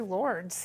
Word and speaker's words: Lourdes: say but it's really lords and you pronounce the lord's not lord i pronounce it which